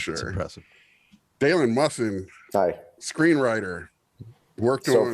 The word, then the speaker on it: Musson: Pronounce that right? Yeah, first time. Musson.